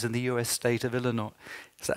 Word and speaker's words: Illinois: of tax increases in the US state of Illinois. Is that how you pronounce it? Illinois.